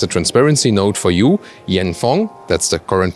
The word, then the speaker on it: Yanfeng: And as a transparency note for you, Yanfeng, that's the current pronunciation of the supplier, they are sponsoring this video.